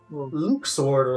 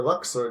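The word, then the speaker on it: Luxord: back again are lay Luke's order Luxor depending on however you want to pronounce it of the organization xiii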